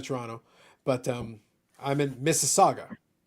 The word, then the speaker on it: Mississauga: um I'm in Mississauga so it's m-i-s-s-i-s-s-auga um so you start so it's like oh how do you pronounce it it's like all right so start off like Mississippi that's that's it that's that's all you need to do have a good night